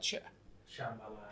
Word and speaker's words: Shambhala: How would you pronounce, I say it Shambhala. It's just got an H in there.